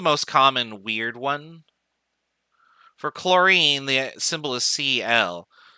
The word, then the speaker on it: chlorine: common weird one for chlorine the symbol is cl there's an h in chlorine but the h is silent and it also doesn't